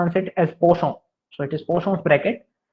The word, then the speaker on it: Poisson: You pronounce it as Poisson.